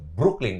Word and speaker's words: Brooklyn: Brook Dou Brook Oke Brooklyn double o so dibacanya u jadi Iya betul tapi itu